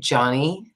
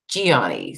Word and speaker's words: Gianni: It sounds like they're saying it Johnny when I hear it on the show, but I know it's like Gianni. So it's almost like it's obviously the combination of the two.